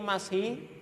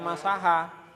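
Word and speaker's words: مسح: Tapi intinya ini mashi, ini jangan dibaca masaha. Sifatun masahal khufain, salah. Tapi apa? Sifatu mashil khufain.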